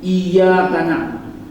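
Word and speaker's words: إياك نعبد: suratul fatihah ya baca surah al-fatihah baca surah al fatihah fatihah itu jangan sampai jangan sampai kita salah di dalam membacanya terutama pada kalimat iyaka na'budu itu harus ditekannya iyaka na'budu bis kita gak terlalu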